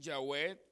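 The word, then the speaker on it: Yahweh: de pronunciar esta palabra dos pronunciaciones más comunes son ya web que las modificado a llave es un intento según los eruditos de pronunciar la palabra según una interpretación hebrea literal y literal lo más cerca a lo que se podía creer que se llamaba dios la web ya ve y se han hecho algunas como se llama algunos arreglos para latinizar el nombre una pronunciación latina jehová pero repito al no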